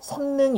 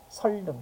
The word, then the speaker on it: 선릉: 시작하는 말이 왔을 때죠 지금 선 같은 경우는 니은 받침으로 끝나지만 이음절 한자가 아니잖아요 그래서 이럴 때는 적용해서 성능이 아니라 어떻게 해야 돼요 설능 그죠 자 기사님 설능